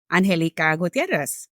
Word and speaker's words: Angélica Gutiérrez: And so I pronounced my name in the Spanish version, Angélica Gutiérrez. And I remember that after I introduced myself, one of the other students said, that sounds very hard to pronounce. Followed by another individual that said, well, isn't it the same as the English version, Angelica? Why don't you just say Angelica?